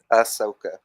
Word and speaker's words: Ahsoka: Ahsoka. Ahsoka. Did I say it? No. Just take the H out.